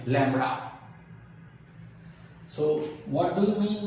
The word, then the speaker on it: lambda: its wavelength symbol lambda where b is silent lambda you have to say